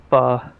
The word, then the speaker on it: pho: Apparently, I was talking to the guys from the other community, and it's not pronounced foe, it's pho.